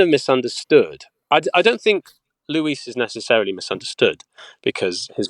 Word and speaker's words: Louis: And in the Japanese dub, it's Louis, and then they decided it's Luis. Yeah, I kept saying, me. I'm Louis, and then the director was like, no, it's Luis, and but it's spelt Louis.